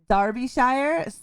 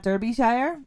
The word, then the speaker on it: Derbyshire: it's it's spelled uh darby shire darby shire say it like that not derbyshire even though it has an e in it it's pronounced with an a darby shire yeah i